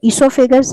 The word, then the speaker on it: esophagus: ठीक है, it's known as the esophagus. You will find in some old books it's written with O. O is silent.